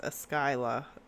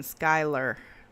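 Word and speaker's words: Eskyla: Her name is Es Skyla and it's spelled E S K Y L A. And a lot of people cuz I call her Skyla for short and a lot of people think I'm saying Skyler. And I'm always like, "No, it's Skyla."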